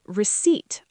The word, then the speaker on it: receipt: And receipt. R E C E I P T. receipt. That P in the middle is completely silent.